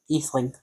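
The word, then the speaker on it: Ætheling: Atheling. It is pronounced Atheling. Because it had the funny A in front of it.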